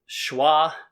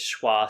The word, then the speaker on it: schwa: these soft sounds and this sound is called schwa and it's pronounced ah and why do i